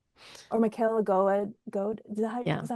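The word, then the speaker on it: Goade: picture books from middle grade or Michaela go is that is that how you pronounce go.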